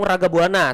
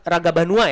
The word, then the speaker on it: Ragabanua: Tadi K saya Laung Ragabuana tapi yang benar Ragabanua ya.